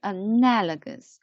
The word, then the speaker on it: analogous: four four syllables together four syllables together and together and and the stress is on the second syllable right analogous analogous analogous analogous and